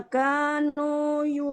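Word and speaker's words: كانوا: Hanya 2 harakat Umi, kanu ya, tidak kanu tapi kanu, kanya juga di ayun.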